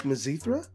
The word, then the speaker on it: Mizithra: is Elon Musk like mazithra that didn't even sound edible purethra and we all know how that went for you so the zithra rhymes with urethra that is the longest